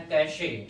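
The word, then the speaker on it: cachet: इसका एक वर्ड आता है कैशे, लेकिन कैशे में ध्यान रखना टी साइलेंट रहता है।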